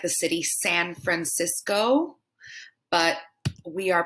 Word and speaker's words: Francisco: heard it and said francisco like the city san francisco but we are pronouncing it francisco with that shorter o here we have a